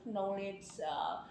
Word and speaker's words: knowledge: Kadang saya udah kasih tahu lah kalau dalam bahasa Inggris ada KN, maka kalau berdampingan the letter K is soundless, tidak ada suaranya itu. Jadi nggak ada yang bilang knowledge, knife, knockdown.